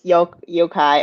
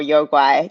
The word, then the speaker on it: Yokai: It's called Here Comes Yokai or Yokai, depends on what pronunciation you want to do.